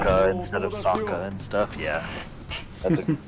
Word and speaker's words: Sokka: Yeah, they pronounce like half the names wrong. It's Wow. It's That like movie's famously Soka bad. instead of Sokka and stuff.